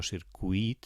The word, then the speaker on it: circuit: Circuit no porta dièresi, perquè es pronuncia com buit, o cuit. No circuit, sinó circuit.